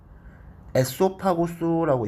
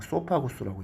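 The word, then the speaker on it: esophagus: 에소파구스라고 읽지 마시고 그냥 소파구스라고 읽어요. 이는 묵음입니다.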